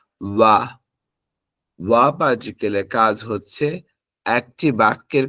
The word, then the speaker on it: は: উচ্চারণ হবে হা কিন্তু যখন বাক্য গঠন করার সময় পার্টিকেল হিসেবে বসবে তখন এর উচ্চারণ হবে ওয়া আর্টিকেলের কাজ হচ্ছে একটি